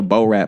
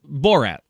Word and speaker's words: Borat: ran like he was an extra in a Bo-Rat movie.